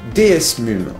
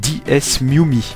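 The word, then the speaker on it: DeSmuME: pour la prononciation mais il me semble que ça se prononce DS miumi oui parce que lorsque j'ai tourné mon intro j'ai dit DS mum mais en fait c'est 10s miumi bon bref c'est pas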